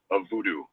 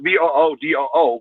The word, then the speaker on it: vodou: Number one, voodoo is spelled absolutely wrong. It's not VOODOO. Voodoo is supposed to be spelled VODOU.